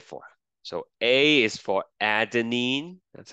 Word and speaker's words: adenine: what they stand for so A is for adenine that's how you pronounce it uh G is for guanine C